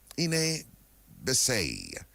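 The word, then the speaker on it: Iné Bisay: And of course, today we had the Kalinago word for respect, and that's Ine Bisay. And that's Ine Bisay. And that's spelled I-N-E with an acute accent.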